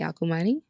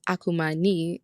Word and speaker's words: Akumani: name is dr akumani and i always tell people to remember how to pronounce my our last name by saying akuma knee and think about your kneecap then everybody's like oh yes akumani but we're so happy